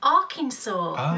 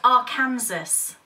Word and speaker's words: Arkansas: set in Arkansas now I always thought this state was pronounced Arkansas how stupid am I but you would have thought the same thing wouldn't you yeah because it's spelt I'm talking to all you lovely Americans out there is spelt a Arkansas yeah why wouldn't it be called Arkansas and it's weird because